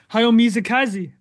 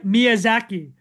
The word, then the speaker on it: Miyazaki: about uh hayo right we should talk about hay mizaki sorry M Miyazaki and uh I keep on getting I always get his name wrong but the co-founder of Studio ji and